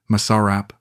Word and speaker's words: masarap: let me teach you properly repeat after me Masarap Masarap I said carefully better she said standing